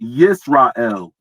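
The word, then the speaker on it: ישראל: So 3478. It's pronounced Yisrael.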